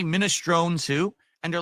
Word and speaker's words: minestrone: It's not minestrone.